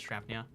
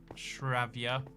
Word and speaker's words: Shravia: Says Shravnia. You know what? You say trying to get more members. I say here's a direct call out. Shravia. I said it wrong the first time.